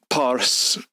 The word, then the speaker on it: Pars: And of course, Arabs have a hard time pronouncing the letter P, so anything in the Persian language that did begin with a P became an F sound. So Pars, the region in the